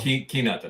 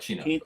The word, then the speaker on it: chinato: Kinato kinato. Not chinato kinato.